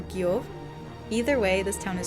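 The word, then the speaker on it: Gjógv: No, the town is called Gajog. Huh. I don't know. Very cool. I believe it's actually pronounced Giog or Giov.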